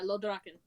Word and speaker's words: Lodraken: Is it Ladraken? Is that right? Yeah, Lodraken.